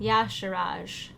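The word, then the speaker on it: Y'Shaarj: Yeah, like, yeah, so it's emphasis on the first syllable. Yasharaj.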